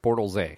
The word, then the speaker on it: Bortles: Hold on, you didn't say his name right. It was Blake Bortles. Bortles.